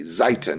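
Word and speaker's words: Xitan: And so ultimately we looked it up and and found out that it's pronounced like Titan with a Z, Zytan, just like that.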